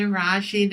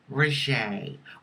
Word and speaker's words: Rajee: Hey rachid arising hair trans activist author and actress some people pronounce it rachet ok raah she rachet honey as long as